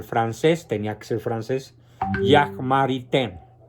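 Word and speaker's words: Jacques Maritain: tenía que ser francés Jack marité se escribe jaques maritain por si alguien quiere encontrar el libro que se llama Introducción a la filosofía de Jack maritan es el mejor comentarista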